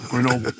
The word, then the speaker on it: Grenoble: I've been trying to pronounce Grenoble properly with the French accent for, now it's been 10 years. But don't get it right. And I've never gotten it right, and I never plan to. It's just never going to happen. I'm always corrected by the Grenoble guys. So now I say it like the Yankee that I am, Grenoble.